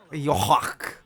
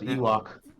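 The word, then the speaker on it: Yhwach: You think I thought it was Ewok. I'm only Ewok? playing. Ewok. Ewok. Nah, dude, you gotta pronounce the Yuach. Y. That's The all. Y is not silent.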